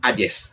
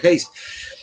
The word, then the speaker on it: Hayes: El presidente de ese entonces, Rutherford Hayes, para los paraguayos, Hayes, el presidente Hayes, pero el apellido se pronuncia Hayes.